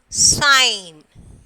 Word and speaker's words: sign: Sign. So next silent letter is G. Sign, benign, PHLE, pelham. Okay, pelham. So G is silent here.